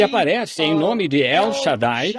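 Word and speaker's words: שד: em nome de El Shadai o todo-poderoso ah na verdade a palavra a palavra Hebraica shad sh a d alguns pronunciam Shade shad significa seio como o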